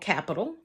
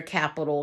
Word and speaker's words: Qapital: And I decided to download an app called Capital. Capital is spelled with a Q, Qapital.